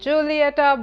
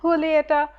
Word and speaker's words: Julieta: this as Raman and Julieta but if you all have read the book you all know that it's pronounced with an H sound rather than a jsuit Raman and Julieta I read this book